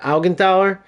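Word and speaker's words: Augenthaler: I can't believe every other Beckhambower is a buildup center back, but now I got him, but I got Algenthaler. Algen Taler, I should say.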